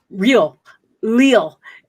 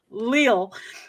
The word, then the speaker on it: Leal: this his name is i i say his name is uh real leo it's his name is gabriel lill and he has the